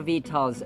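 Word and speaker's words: victuals: of vetal for him begil vetal or vitals notice that letters u and C are actual and should be missed out maybe because it has a British origin That's why it's being pronounced That Way So we're not baffled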